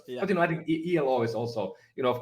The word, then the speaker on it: Elo: thing so ELO it means um if we pronounce it ELO it means life in finish and if you pronounce it ELO as some people might it it means uh